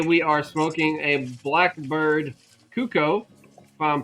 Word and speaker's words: Cuco: Today we are smoking a Blackbird Cuco, if I'm pronouncing that correct. That right? Correct? Cuckoo, cuckoo.